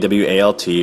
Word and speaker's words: AWALT: And it's usually an acronym as AWALT, or AWAL is how I pronounce it.